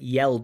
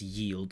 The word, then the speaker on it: yelled: me they candid is trying to say yelled at me but it comes out as yield so there is a